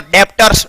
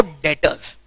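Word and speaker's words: debtors: बी को pronounce तो बिल्कुल नहीं करना है, डेप्टर्स तो करना ही नहीं है, डेटर्स, बी को प्रोनाउंस नहीं करना है, साइलेंट है वो।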